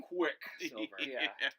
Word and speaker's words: Quicksilver: Emphasis on the first syllable of that name, Quicksilver.